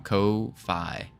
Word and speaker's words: Ko-fi: Ko-fi. I'm pretty sure that's how you pronounce it. Ko-fi. Okay. Ko-fi. I'm just going to call it coffee, though, because they have a coffee mug.